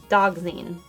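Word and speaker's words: dioxazine: I've heard it pronounced dogzine.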